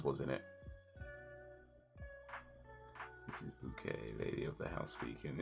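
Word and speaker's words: Bucket: in it this is bouquet Lady of the house weekend yeah okay as that's pronounced spelled b-u-c-k-e-t but it's pronounced bouquet mother Robbie's boyfriend is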